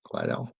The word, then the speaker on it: Lidl: It's pronounced Lidl. Lidl.